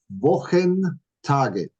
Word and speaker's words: Wochentage: And this is where we got that beautiful H sound. Okay. So we got Wochen Tage. You beautiful 4 syllables.